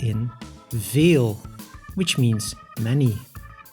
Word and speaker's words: veel: v v like in Veil which means many in Dutch the V is pronounced quite close to the f Way the letter way